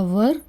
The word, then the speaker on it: were: Subject plus was या वर plus verb की first form plus I एन G plus object. इसका सही pronunciation है वर।